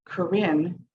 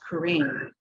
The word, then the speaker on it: Corrine: on the recording we could hear back Karen, but my name is pronounced Karine.